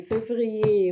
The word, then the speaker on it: février: janvier, février, mars, avril, mai, juin, juillet, juin, juillet, juin, juillet, juin, juillet.